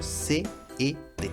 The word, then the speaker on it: cet: escrito CE, sino vamos a utilizar cet, escrito C-E-T. Se pronuncia cet.